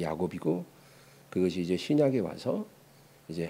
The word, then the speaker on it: 야곱: 근데에 야고보 야고보라는 이름은이 구약 시대는 그 이름이 야곱이라고 불 야곱 구약 성경에는 야곱이라고 하는데 그게 이제 히브리식 발음이에요. 히브리어 발음이 야곱이고 그것이 이제 신약에 와서 이제 헬라식 발음 헬라 발음으로 야고보라 그래요.